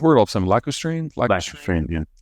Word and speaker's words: lacustrine: Most of China's shales are, I can't pronounce the word all of a sudden, lacustrine?